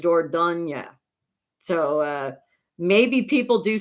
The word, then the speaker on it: Dordogne: up, and it actually, I looked up the French pronunciation en français, and it was Dordogne.